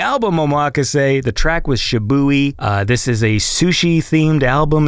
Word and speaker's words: SHIBUI: So her favorite track is SHIBUI. Is that how you say that word? Yeah, I would agree. That's how you say it, SHIBUI.